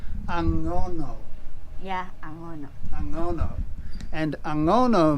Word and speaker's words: Angono: ago yeah and so this town is called agono aono yeah I mispronounce it it's angono yeah Ango angono and angono means ano and